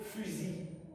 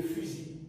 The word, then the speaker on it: fusil: Le fusil. Le fusil. C'est vrai, le verbe c'est fusiller avec le ZER, mais quoique c'est terminé par la lettre L, elle ne se prononce pas.